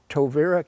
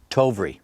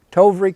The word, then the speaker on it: Tovrea: The first offer we had was, and I never could pronounce this quite right, was Tovera Castle. Tovry. Yeah, say Tovry. Tovry Castle.